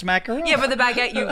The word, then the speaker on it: macaron: Macaron, not to be confused with the macaroon, which is a coconut-based dessert.